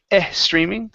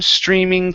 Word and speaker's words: streaming: to streaming here so instead of E streaming take off the e sound the word is the full moon streaming through the full moon